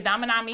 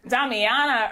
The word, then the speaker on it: Damiana: The Damanami. I think they're over there. Did I say it right? Damiana herb.